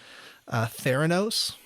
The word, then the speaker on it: Theranos: This is the podcast about Elizabeth Holmes and how do you pronounce that? Theranos.